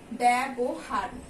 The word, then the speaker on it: ব্যবহার: এরপরে দেখো ব্যবহার, এখানেও আমাদের প্রথমেই ব্যঞ্জন ধ্বনির সঙ্গে জ ফলাটা যুক্ত আছে, তাই এটার উচ্চারণ হয়ে যাবে ব্যবহার, এর মতো হয়ে যাবে।